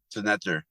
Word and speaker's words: Senetjer: Senetjer. Yeah, it's like senator, but accentuating it differently.